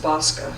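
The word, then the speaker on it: BAWSCA: That's pronounced BOSCA.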